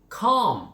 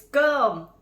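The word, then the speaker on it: cơm: Okay, and then how about calm? I see calm. What the hell is calm? It's gum.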